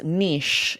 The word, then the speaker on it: niche: this next one yes Niche is a French word and what's really interesting is the variant it sounds very different it's niche and here's what's fascinating growing